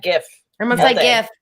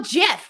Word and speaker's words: GIF: Hard G. Guh. Hard G, not a soft G.